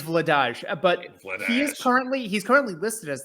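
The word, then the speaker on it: Vladař: It's pronounced Vladaj, by the way.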